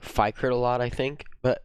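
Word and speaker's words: Fikret: want your name pronounced uh f-i-k-r-e-t i say it like fight crit a lot i think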